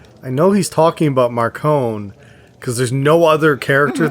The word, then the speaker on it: Marcone: right but there was a moment when he pronounces his name differently too i think he says marcon he says marconi does he it was it threw me off because i'm like i know he's talking about marcone because there's no other character that's got a